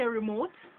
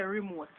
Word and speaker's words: remote: but that's a lie we don't say remote we say remote yes pass me the